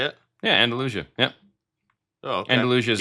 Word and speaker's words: Andalusia: Yeah, Andalusia.